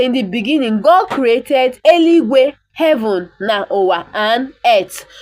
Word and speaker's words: eluigwe: Na mmalite Chineke kere eluigwe na ụwa. So na mmalite, in the beginning, God created eluigwe, heaven na ụwa, and earth.